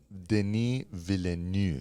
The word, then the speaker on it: Denis Villeneuve: So no, It's pronounced Denis Villeneuve.